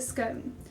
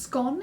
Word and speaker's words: scone: tea first things first this is a scone it can also be pronounced scone it depends on where you're from or how you do it I tend to flip-flop between scone and scone um but it is